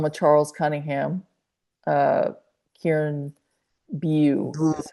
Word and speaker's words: Bew: Uh, Kieran Bew is how you say Bill. it. It's Hmm. Bew.